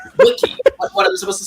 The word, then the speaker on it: wiki: but this year bu the way you pronounce Wiki stop pronouncing it weaky Lenny oh my God I will I will generally beat you up if you continue to say wiy Wiki what am I supposed